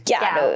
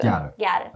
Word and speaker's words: ギャル: So the English word, the English word girl, when Japanese pronunciations are plowed, comes out as Gyaru. Gyaru.